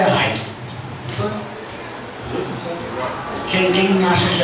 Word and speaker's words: Light: É Light ou é Raito? Quem acha que é Light aí? Light ou Raito? A grande maioria fala Raito, né?